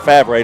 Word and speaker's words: Favre: little prep football or i'm gonna say brett favre that's how you say it louisiana but most people say far but it's just not ripe anyway he does a